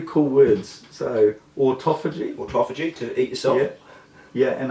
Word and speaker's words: autophagy: So when you see the word written, it looks like autophagy. It's pronounced autophagy.